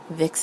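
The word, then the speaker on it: Vix: Vic's is spelled V-I-X.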